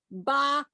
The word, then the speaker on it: bah: uh Dickens your Scrooge bah humbug b-a-h the H is silent but humbug h-u-m-b-u-g you